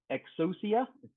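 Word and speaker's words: Exousia: current version is 300 and um Glassfish 8 milestone 5 and Eclipse exosia that's how you pronounce it 30 milestone 3 concurrency um provides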